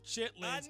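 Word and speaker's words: chitterlings: that I don't touch it's spelled one way it's said another ain't no chitlings passing through these teeth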